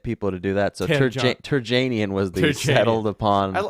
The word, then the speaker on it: Terjanian: Harry Terjanian. Hey. Do you do Terjanian or Terjanian? Well, technically, I found out it's Terjanian. It's supposed to be Terjanian. Terjanian.